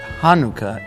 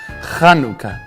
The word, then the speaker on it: Chanukah: I was 18 or 19 years old before I found out that Hanukkah is actually properly pronounced Chanukah. And I thought to myself, what are they doing, spitting at each other?